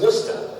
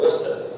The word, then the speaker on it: Worcester: This is Worcester. Okay, that's a two-syllable word, Worcester.